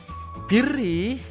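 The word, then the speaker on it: بِرّ: Birri, 'alal birri enggak boleh dibaca panjang. Biasanya kamu kan bacanya wa ta'awanu 'alal birri wat taqwa. Tidak boleh. Birrinya harus pendek.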